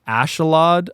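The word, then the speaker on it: Askeladd: I've heard it pronounced Ashalad. I always pronounce Ascalad. Yeah, I pronounce it Ascalad. Yeah, Ascalad, but I've heard some people say Ashalad.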